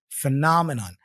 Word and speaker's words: phenomenon: sounding words so phenomenon remember here the apostrophe is before the na so na is my Str syllable f f phenomenon phenomenon all right and then here's an extra tip take a look remember that pH usually sounds like f in English like phenomenon like Pharmacy